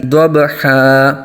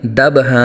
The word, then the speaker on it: ضبحا: گے۔ والعادیات والعادیات والعادیات ضبحا، یہاں بھی دبحا نہیں کریں گے، اکثر غلطی کر جاتے ہیں۔ والعادیات دبحا، یہ بہت بڑی مسٹیک ہے۔ یہاں قرآن پاک کو